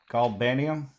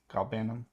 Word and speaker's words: galbanum: Uh, how do you say it? Galbanium. Galbanum. That sounds about right.